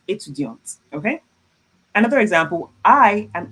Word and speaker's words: étudiante: I would have to pronounce the T at the end and I will put an additional E. It would be je suis étudiante, okay?